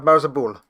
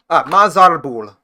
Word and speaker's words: Mazarbul: Wow, the chamber of Marzabul. Mazarbul. I added an extra R.